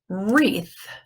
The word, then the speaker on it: wreath: thing the W how about this one hey wreath wreath what letter is silent the W and this one this the